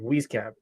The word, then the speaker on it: Wieskamp: Wieskamp.